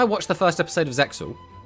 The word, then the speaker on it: Zexal: Again, I haven't watched Zexal. Like, the reason I went back and watched the Zexal I have watched, or Zale, depending on how people like to pronounce it.